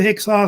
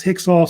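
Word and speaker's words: Hyksos: the real correct one they F either pronounce hix or hios one of the two is usually popular uh after the hexos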